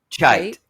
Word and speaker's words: Cheit: Cheit. Yeah, Cheit. Cheit. Yeah. Well, once you do pronounce something wrong, you're really, or at least I am doomed.